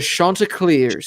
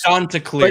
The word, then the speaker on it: Chanticleers: The Chanticleers. Chanticleers. But you have to say it while raising your pinky and drinking out of a expensive wine glass. Like this. The Chanticleers.